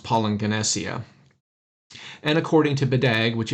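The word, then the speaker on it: παλιγγενεσία: two G's together but when you have a double gamma in the Greek it makes an NG sound and so it's pronounced poing ganesia and According to badag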